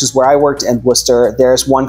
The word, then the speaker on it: Worcester: is in Worcester Massachusetts it's not warcaster which is what it looks like to everybody west of the Mississippi it's pronounced Worcester unless you're from